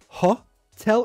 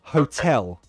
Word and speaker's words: hotel: said hotel hotel yeah so it's not ha tell it's ho say this with me ho hotel hotel yes so there's